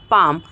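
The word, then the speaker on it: palm: एल एम काम होता है तो काम बाम पाम आमंड ठीक है तो हम यहां पे क्या कर रहे हैं दोस्तों हम प्रोनाउंस नहीं कर रहे हैं एल का तो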